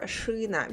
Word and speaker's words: шина: Or шина we write with e but pronounced with y.